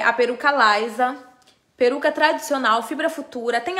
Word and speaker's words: Lysa: l y s a essa é a peruca Laisa perdão que eu acho que tinha falado ó essa daqui é a peruca Lisa é uma peruca tradicional